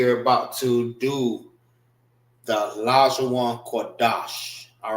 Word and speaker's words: Lashawan Qadash: Wan is pronounced together.